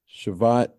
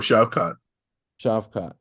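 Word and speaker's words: Shavkat: uh how you say his name again TJ shavat Oh shot chavot yeah I think the next guy in line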